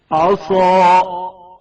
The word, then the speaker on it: عصا: عسى عسى عصا صاد کی آواز موٹی اور پر سنائی جائے گی. عصا عصا صاد کے تلفظ کے وقت زبان کی کیفیت پر توجہ کریں.